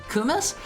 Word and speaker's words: kumis: Kumis?